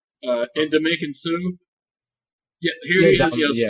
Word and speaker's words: Ndamukong Suh: cat right here, for the Lions, how you pronounce his name? Ndamukong Suh.